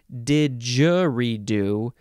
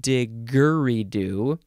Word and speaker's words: didgeridoo: it is Spill Still Still pronounced didgeridoo instead of digger redo um you could also change what are we didgeridoo you can emphasize the last syllable didgeridoo um I think also